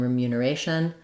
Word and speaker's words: remuneration: and mu syllables but we're no longer stressing on the second syllable mu we move to the stress on the second to last syllable so words that end